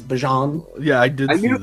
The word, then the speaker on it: Bijan: Did you also see the video of him pronouncing his first name not Bijan, is Bajan?